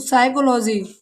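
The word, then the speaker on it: psychology: For example PSBYCHOLOGY, जब वैसे फिजियोलॉजी होना चाहिए मगर नहीं, इसे यहाँ साइलेंट है तो साइकोलॉजी, साइकोटिस्ट, साइकोथेरेपी।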